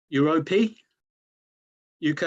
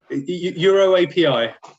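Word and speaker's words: Euroapi: Item 6, which is, I hope I'm pronouncing this correctly, Europe UK Limited solar farm application. Please pull me up, Paul, if I'm saying that wrong. Euro API. Euro API.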